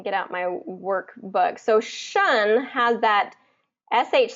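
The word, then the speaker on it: -tion: With that T-I-O-N, it's shun.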